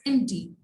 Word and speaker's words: empty: Okay, empty में p अपनी आवाज नहीं दे रहा, हम इसको empty नहीं बोलते, we pronounce it as empty. Okay, so the p is silent in this.